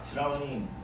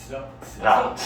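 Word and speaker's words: drought: 드라우닝. 발음 안 나는 거 있어? 단어장에 써있는데 그지 같은 놈들. 드라우트.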